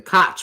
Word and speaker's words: Koch: They are pronounced the Koch brothers, but I refuse.